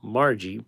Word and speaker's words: Margie: Katherine pronounced Katherine Rosette Margie pronounced with a hard G in babe There are